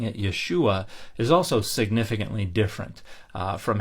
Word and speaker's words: Yeshua: century CE and so it probably was pronounced something more like Yeshua where you're constricting the throat to to end the ooh vowel rather than adding that